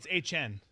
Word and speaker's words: Etienne: How is it pronounced now? H N.